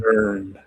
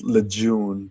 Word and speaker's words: Lejeune: Lejeune. The charges against him were extensive. It's spelled Lejeune, but people say Lejeune, and I don't understand that.